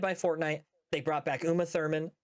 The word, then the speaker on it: Uma Thurman: They brought back Uma Thurman. Uma Therma. Uma how Uma Thurman. Uma Thurman. Uma. I said it right the first time.